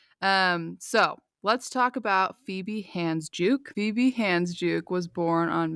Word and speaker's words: Handsjuk: But if it's not, I thought it was Handsjuk, but it's not. It's Handsjuk, Yeah, it's a according to 3 wild different spelling.